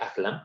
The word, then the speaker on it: Ahlam: Y bueno, pues y nada más aclarando un poco la cuestión de mi nombre, el segundo nombre se pronuncia Ahlam, entonces yo sé que